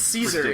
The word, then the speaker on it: Caesar: I hear it both ways. I say Caesar because calling it Kaiser is fucking stupid. It's Caesar. It's Caesar. Like, His name is Caesar.